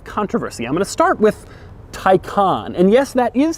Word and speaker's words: Taycan: how you say it Tyco on and not take on which is odd because it looks like it would be pronounced take on but Porsche assures me that it isn't it's also strange because